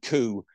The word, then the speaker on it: coup: we haven't mention the cup what was the cup and how did they come yeah yeah just in English pronunciation coup is is how you say it so I just